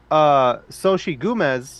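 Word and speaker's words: Xochitl: which makes sense because Soshi Gomez, sorry, fuck. Soshi Gomez, who plays America Chavez. No, America. Yeah, Yeah, America yeah, Chavez. yeah. Her name is spelled XO, but it makes the sh noise.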